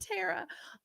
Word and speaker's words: Terra: your name is spelled tara t-e-r-r-a it's like terra cotta okay i love the